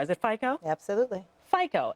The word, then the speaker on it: FICO: much so I don't even know if I'm pronouncing it right is it FICO absolutely FICO f i but the ratings have a much